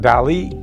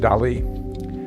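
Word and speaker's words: DALL·E: thought it was do it's spelled D A L L E but I think it's pronounced Del Accent on the E like me same P pay as it were with the accent anyway I digress but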